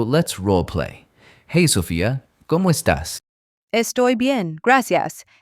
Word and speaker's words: ¿Cómo estás?: The emphasis is on the first O in como and the A in estás. ¿Cómo estás?